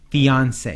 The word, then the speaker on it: fiancé: fiancee you are his fiance yes exactly okay yeah yeah not Beyonce Beyonce fiance and you want to